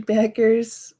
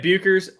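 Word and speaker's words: Bueckers: Paige Beckers, I think is the way you pronounce it. I've been saying it Buchers the whole time.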